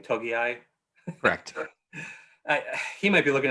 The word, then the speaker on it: Togiai: is it doug just told me how to pronounce his name togiai i he might be looking at like 250